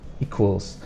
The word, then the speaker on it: equals: for both for spelling the difficult one might be this sound that we have it's not a k or a c it's a q u so we have equals and then the E we sound long equals Plus add Plus add